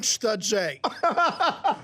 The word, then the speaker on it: Sturtze: Forget about the French stuff. Okay. Just say it like it's an American name. Tanyon. Okay, it's not Stewie, like Family Guy. Sorry. I've said it 15 times. Tanyon Sturtze.